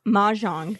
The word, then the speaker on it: Mahjong: Mahjong.